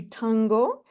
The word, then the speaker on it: Thango: All right, what we're going to do is to move on to Thango. Am I pronouncing your name right? Yes, you are. That's correct. Thango Ntwasa.